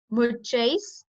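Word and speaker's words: uccais: Muchais. Pronounce with me. Muchais. Just like you say much, so it's much, Muchais Tatam.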